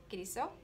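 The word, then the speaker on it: Kilisou: Thank you, my dad's name, Kiriso.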